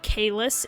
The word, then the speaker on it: Caelus: I guess it's pronounced Caelus. I was saying Caelus for like the first year, I think, and then I heard someone say Caelus, and I was like, oh, is that how they say it? Oh. Because I was going based off the Latin pronunciation, because fun fact about